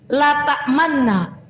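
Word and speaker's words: لَا تَأْمَنَّا: Asalnya la ta'manunna, la ta'manna. Tulisannya gini, la ta'manna. Nah, di sini yang disebut dengan ismam itu memonyongkan huruf nun menjadi dhammah. Tulisannya adalah la ta'manna. Cara membacanya la ta'manna.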